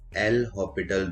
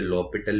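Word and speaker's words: L'Hôpital: Spelling के according, लेकिन क्योंकि एक फ्रेंच नेम है तो हॉस्पिटल को जनरली ओ के ऊपर कैप लगा दिया जाता है क्योंकि इसमें एस साइलेंट होता है।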